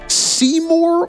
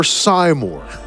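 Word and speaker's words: Seymour: Is it pronounced seyour or simore? I've never heard that one before. I'm not going to lie. It's it's it's said in the game, so it was the correct pronunciation.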